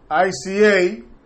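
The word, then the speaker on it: Isia: Bueno, aquí parece que viene ICA. Es así que se pronuncia, I-S-I-A.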